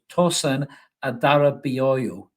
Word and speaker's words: Tosin Adarabioyo: nice and slowly so tosen Adara booo is how you pronounce it apparently hopefully I got